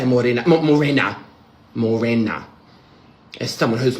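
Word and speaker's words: Mōrena: Not Morina. or Morena. I could never learn to say Morina. Morena. Morena.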